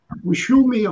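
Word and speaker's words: Xiaomi: No, it's called, it starts with X, but it's pronounced, what, Wishumi or something, Wishumi.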